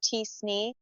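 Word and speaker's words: t-SNE: Also, if the relationships in your data are highly nonlinear, you might want to consider alternatives like kernel PCA or TSN, which is pronounced tsne.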